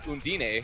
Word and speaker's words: Undine: And I've just been, informed that's actually Undine for Element Mystic. That's the pronunciation, as it pops the